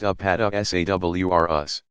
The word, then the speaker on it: Apatosaurus: These giant plant eaters include the Apatosaurus, pronounced Apatosaurus.